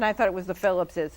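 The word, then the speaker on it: Philipses: Okay, because I see that name all over Putnam County, and I thought it was the Phillipses. It's Phillipses. That's how you pronounce it. I believe so.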